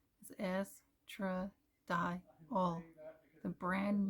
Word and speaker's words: estradiol: Pronunciation is estradiol.